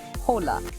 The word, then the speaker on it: Hola: are spoken for example the letter H in Spanish is always silent as in the word Hola by understanding the rules